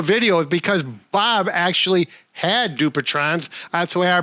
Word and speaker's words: Dupuytren's: We did do a video because Bob actually had Dupuytren's. That's the way I pronounce it.